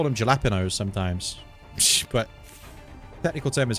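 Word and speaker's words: jalapeño: why not or gapos the J is a h okay also feel that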